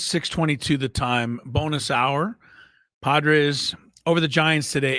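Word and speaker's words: Podres: his career with the Padres's in 1969. And his last name was Padres. That is crazy. Johnny Padres. It's spelled differently. P O D R E S for his name, Johnny Padres.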